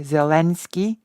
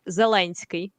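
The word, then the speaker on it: Зеленський: because I know that English speakers usually say zelenski I know that in Poland you say zawanski and I've heard that it is closer to the original pronunciation well actually in in Ukraine you would say zelinski right so we'll just say l there okay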